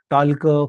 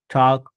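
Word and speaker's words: talk: behalf या पद्धतीने त्याचप्रकारे एल नंतर जर के आला तर एल चा उल्लेख शक्यतो अवईड होतो किंवा टाळला जातो मग तिथे पाहायला गेलं तर टॉक वक टॉलक कॉल्क वॉलक असं नाही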